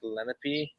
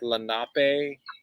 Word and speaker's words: Lenape: one way even though I said Lenape multiple times and they said Lana pay like I had to